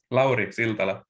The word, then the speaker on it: Lauri: on record how do you say your name laurie there you go yeah my apologies so uh